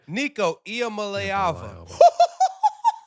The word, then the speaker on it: Nico Iamaleava: Nico Iamaleava. Wow. That boy knows his pronunciations.